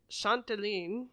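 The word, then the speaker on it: Châtelaine: Also an award-winning Canadian journalist who has worked as an editor for Refinery 29, The Globe and Mail, Chanteline, I believe is how you say that, and Toronto Life.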